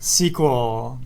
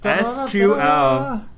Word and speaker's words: SQL: the what is the one everybody knows about sequel SQL that's right it's so people know about it